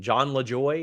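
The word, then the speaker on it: Jon Lajoie: I don't know how to pronounce his name. John LaJoy, is that it?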